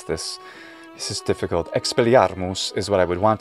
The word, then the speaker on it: Expelliarmus: this this is difficult expelliarmus is what i would want to say but it's not latin so there's no reason to actually pronounce it with any kind of real latin pronunciation expelliarmus this clearly seems to